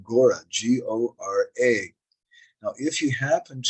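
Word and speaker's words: Gaura: our English transliteration system a common spelling for the name of garanga mahaprabhu is Gora with a long a on the end and uh that it's a little differently spelled that sometimes a general g-a-u-r-a Gora in this case means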